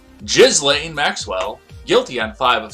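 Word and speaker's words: Ghislaine: jury in new york federal court has found gizlei maxwell i'm sorry i know that there's a proper production pronunciation that you guys all like jizzling maxwell guilty on five of six counts related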